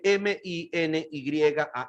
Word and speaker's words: minyan: Para las que no tienen el libro porque no han llenado su formulario, minyan se escribe M-I-N-Y-A-N, minyan.